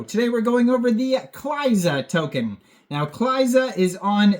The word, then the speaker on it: Cliza: This is like Eliza, spelled the same, except the E is a C, Cliza.